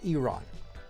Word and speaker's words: Iran: It's pronounced Iron have won down and completed their progress final missions for 12 hours at which point the war will be considered ended officially.